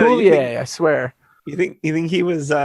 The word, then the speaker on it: Coulier: It's Coulier, I swear.